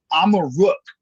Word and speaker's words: Amaruk: Amaruk is how you pronounce Morocco in the Berber language, which was one of the languages from this land that the Moritanians spoke.